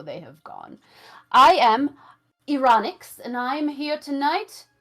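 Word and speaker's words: Eranyx: Ironix. E-R-A-N-Y-X. Ironix.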